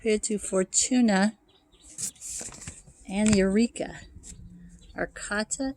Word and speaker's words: Arcata: to fortuna and eureka arcata is another arcade i guess they pronounce it arcada it's a little town